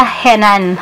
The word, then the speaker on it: Henan: O henan pala yun guys, hinan ako ng hinan kasi nagtanong ko si daddy, henan daw. Hinan daw yung pag-pronounce kasi syempre mga iba naman yung dialect nila doon. So hinan sa kanila, pero henan talaga.